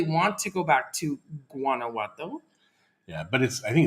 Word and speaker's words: Guanajuato: You pronounce it with G. It's the G. I always thought it was Guanajuato, but it's Guanajuato.